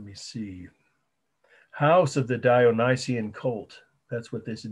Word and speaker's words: Dionysian: So you just look down and I'll say the title and spell it once for you. House of the Dionysian. Remember who he was? The ancient Greek and Roman god of wine. D-I-O-N-Y. S-I-A-N, Dionysian Cult, House of the Dionysian Cult, fresco.